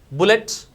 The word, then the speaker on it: bullet: Bullet is the one which is having different sound with oo.